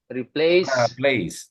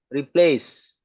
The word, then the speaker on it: replace: jadi kalau ini kan ini kata kerja replace itu ini kan ini silbel pertama yang ini silbel kedua yang distress yang belakang replace gitu bacanya replace replace ya re di depan karena tidak distres dia mesti di diswakan diswakan itu di central tervowel kan jadi e gitu replace sugar replace one